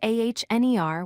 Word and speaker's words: honor: The word honor is spelled H-O-N-O-R, but we say A-H-N-E-R without pronouncing the H.